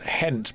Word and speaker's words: Gent: It's pronounced hent, but with a bit of a throw spit of the h. It's pronounced gent because it's spelled that way. And I refuse to embrace other languages.